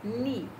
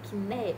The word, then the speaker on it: knee: Knee, como a gente acabou de ver, é joelho, knee. Tia, mas tem K-N-E-E, então não é kné, não, é knee. Sem pronunciar o K e dois E tem som de I, ok?